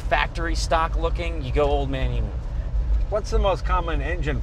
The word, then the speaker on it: Old Man Emu: Old Man Emu, OME for short, is an Australian company, and